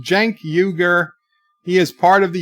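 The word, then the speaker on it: Cenk Uygur: else's bird of prey is pronounced Janki ogre he is part of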